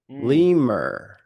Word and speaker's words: lemur: Lemur. There's an R in that word.